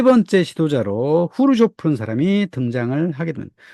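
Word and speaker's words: Хрущёв: 사람이 등장을 하게 됩니다 우리가 예전에는 후르시초프 아고 들었었지아요 그 소리에 키들 문자를 잘못 해석해 가지고 후루시 초프라 말로 일본 사람들이 그 하게 됐고 우리 자연스럽게 들어왔는데 정확한 발음은 후루 쇼프라 한답니다이 사람은 1953년부터 64년 최고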